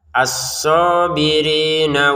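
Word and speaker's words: الصابرين: Tasdidnya jangan disepelekkan ya karena ini penting. Aso jangan sekedar asoya. Aso dua harakat panjang. Ri juga sama nanya pendek ya. Asobirina wasodiqin begitu ya. Jadi jangan dibaca asobirina ini pendek ini ya.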